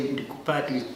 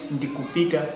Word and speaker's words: Ndikupita: So I said, no, we don't say Ndikupata, we do it Ndikupita, which means I'm going.